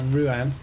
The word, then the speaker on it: Rouen: There's another mega loop here, which is going into Rouen, to give it its proper pronunciation.